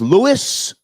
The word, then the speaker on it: Louis: So, you yours is Lewis? Yeah. Okay. And you spell it L O UI S? Yeah. Are you sure your name isn't Louie?